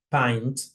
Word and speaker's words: pint: otro ejemplo en inglés, pint, ¿sí? Porque no sigue la misma secuencia que menta, M-I-N-T, mint, ¿sí? Una pinta de cerveza, pint.